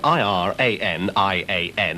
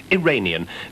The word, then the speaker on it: Iranian: I was very pleased to hear that the pronunciation of I-R-A-N-I-A-N had reverted to the normal and commonly accepted Iranian, rather than Iranian, which was used no